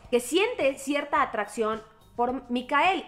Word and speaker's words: Mikael: blomkvist ayer me pues investigar cómo se dice mikael en sueco y se dice mikael ya no les vuelvo a decir michael jaime sigue el sonido